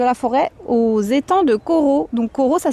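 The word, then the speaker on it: Corot: J'ai démarré à Chaville dans le 92 et là je suis actuellement à côté donc de la forêt aux étants de Corau. Donc Corau ça s'écrit C O R O T qui se situe à la ville d'Avr dans le 92 aussi.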